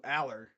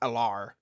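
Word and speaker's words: Allar: say drew aller's name that's how you say it drew Aller not alar I guess it doesn't really matter as long as you're not saying it like a lair it's Aller oh yeah uh tonight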